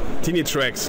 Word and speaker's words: Tinnitracks: Ist das richtig ausgesprochen? Trinitrex, genau.